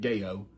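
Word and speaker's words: Gao: It's spelled G-A-O, so that's how I'm pronouncing it, Gayo.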